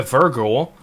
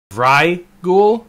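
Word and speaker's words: Vrykul: We do get a Virgul. Vrygul, I believe actually is how it's pronounced.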